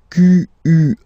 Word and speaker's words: quelle: And then the feminine form is written like that, Q-U-E-L-L-E, but it's pronounced like the masculine form.